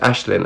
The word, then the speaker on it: Aisling: My name is pronounced Ashlyn. I'm sorry, Ashlyn. It's Irish.